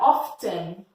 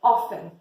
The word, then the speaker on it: often: Então, não é often, é often.